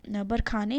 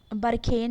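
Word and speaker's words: Barkhane: अब ये ऑपरेशन बरखाने है क्या, ठीक है, तो इसमें ये देखते हैं। बरखेन भी बहुत लोग बोलेंगे, या बरखाने, जो भी आपको सही लगे, प्रोनाउंसिएशन अपने हिसाब से वो कर सकते हैं।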